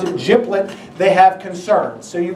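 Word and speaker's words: GPLET: out to G plet therefore and if they pronounce it giblet they have concerns so you can already tell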